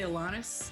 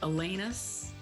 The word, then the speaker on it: Alanis: atlantis yeah but a lot of people say alanis elena's alanis oh i really don't care i've dissociated from